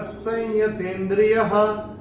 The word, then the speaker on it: संयतेन्द्रियः: अगर हम नियम के हिसाब से जाएंगे तो य जब आएगा अनुस्वार के बाद, तो उसका उच्चारण अनुस्वार का होगा म। लेकिन हम लोग, मैंने कैसे चयन किया था? संयतेन्द्रिय, संयम जैसे हम बोलते ना, संयम, ऐसे संयतेन्द्रिय मैंने किया था।